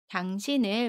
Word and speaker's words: 당신을: 받침 니은과 모음 의가 만납니다. 그러면 받침 니은이 다음에 오는 이응 자리로 가서 신을이라고 발음해요. 연음입니다.